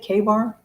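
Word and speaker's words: Ka-Bar: K bar or a Ka bar how is that how you say it K Bar we say K Bar K Bar yeah if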